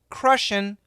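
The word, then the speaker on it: crushin': n ' I T so grammatically it should be crushing CR you SH ing but the pronunciation is crushing so they take off the G and they use an apostrophe so crushing it this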